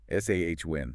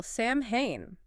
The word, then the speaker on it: Samhain: The M and the H just sort of disappear or change completely. What's happening there? That's right. In the Gaelic language, that specific combination often creates a W or V sound.